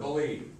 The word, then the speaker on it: believe: if i ask you the two syllable word believe say believe say it dramatically dramatically right so which syllable gets the accent first or second raise your hand if you know second second exactly it kind of